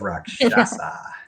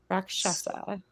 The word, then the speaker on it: Rakshasa: Wrath of Rakshasa. I did it. I said it right. I did it. We've been practicing. We received a phonetic spelling of it. So Rakshasa.